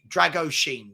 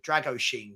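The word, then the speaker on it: Drăgușin: so Ali gold has been informed the correct pronunciation is r dragu droin r droin drag Drago Sheen Drago Sheen Drago Shen it's not an easy one to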